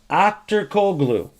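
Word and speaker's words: Aktürkoğlu: Akturkoglu. And I know that's how you pronounce in Turkish.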